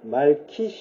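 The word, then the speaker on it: מלכי: 예 체데크 멜기세덱이 하죠 이게 이제 원래 발음은 말키 이렇게 되는 거죠 의의 왕 예 멸기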